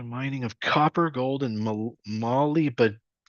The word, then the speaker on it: molybdenum: The mining of copper, gold, and molybdenum. Molybdenum.